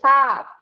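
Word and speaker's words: ทราบ: Karena di sini ketentuannya ngomong kayak gitu, jadi di sini totahan sama rorea meskipun di situ nggak ada unsur-unsur huruf S-nya, tapi dibacanya S gitu, sap.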